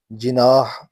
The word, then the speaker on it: جناح: سبب کچھ بھی ہو، جینا پونجاہ نے اپنے نام کا تلفظ جناح اختیار کر لیا، یہاں تک کہ پونجاہ